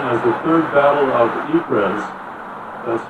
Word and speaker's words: Ypres: 3 years later, on July 31, 1917, the British launched an attack officially known as the Third Battle of Ypres, that's spelled Y-P-R-E-S, in the Flanders region of Belgium,